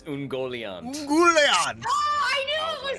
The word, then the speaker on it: Ungoliant: It's Ungoliant.